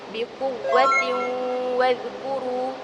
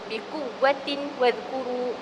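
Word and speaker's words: بِقُوَّةٍ وَاذْكُرُوا: Cara bacaan yang betul adalah biquwatin wkuru. Biquwwatin wkuru. Itu adalah cara bacaan yang betul. Adapun cara bacaan yang salah kita tidak dengung. Contohnya biquwatin wkuru. Biquwatin wazkuru. Itu adalah cara bacaan yang salah.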